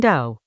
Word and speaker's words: Dao: The Dao, pronounced Dao as an owl, De Jing meaning roughly the book of the way and its virtue, opens with a taxonomy of response.